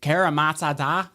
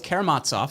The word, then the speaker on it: Karamazov: We did the Brothers Karamazov recently, and the professor corrected me because I totally butchered the name. I was like, Karamazov.